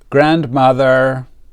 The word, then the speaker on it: grandmother: Jennifer loves her grandmother. Jennifer loves her grandmother. Grandmother. We don't pronounce the D.